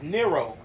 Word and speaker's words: Nero: Nero, Nero, like zero.